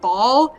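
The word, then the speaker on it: Baal: You okay, like a moth to Bale. the flame, drawn What? How do they spell that? B-A-A-L. All right. So, in Stargate, they also have him, and they pronounce it Ball, and it's the funniest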